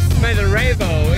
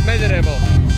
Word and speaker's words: Smederevo: You know, this is the town of Smederevo in American English way, but actually it's Smederevo.